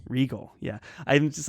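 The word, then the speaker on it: Regol: and assassin's apprentice but that's r-e-g-a-l not r-e-g-o-l but still very different characters but their name is pronounced the same yeah and i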